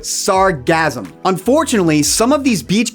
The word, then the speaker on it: sargassum: This seaweed is known as sargassum. Sounds like the word sarcasm, but sargassum.